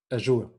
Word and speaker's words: Azure: Azure, yeah. So I think there are quite some common ways how to pronounce it, but let's stick to Azure.